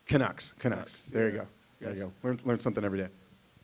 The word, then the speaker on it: Canucks: Yeah, the how you pronounce it? The Canucks. Canucks.